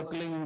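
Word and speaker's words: क्लीं: एक शब्द क्लिंग शब्द क्या आधा ला में मिला हुआ, बड़ी की मात्रा और बिंदी, उसका उच्चारण होगा क्लिंग गा। गा की ध्वनि निकलेगी पीछे।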